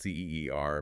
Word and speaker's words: Ceer: And just so you know, it's spelled C-E-E-R, but it's pronounced Ceer.